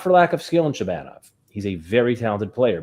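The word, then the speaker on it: Shabanov: Shabbanov.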